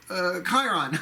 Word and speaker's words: Chiron: the cent or really it's pronounced kent or from the greek Chiron the Chiron the wounded healer right in his cave in other